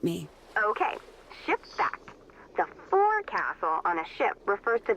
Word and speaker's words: forecastle: ship but it's pronounced fo'c'sle why is that try pronouncing it like an english sailor with no formal education spoke at all oakville